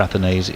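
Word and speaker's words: Athanaze: I'm pretty sure the consensus on pronunciation for Athanase is, think of it as a kind of a nasal spray for hay fever.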